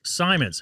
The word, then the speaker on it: Simons: up yeah back up uh this is Simons it is Simon's right did I have I